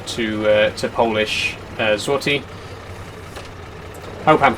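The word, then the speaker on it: złoty: he told me that the L with the line through it is pronounced like a a w in English like a w sound I don't know if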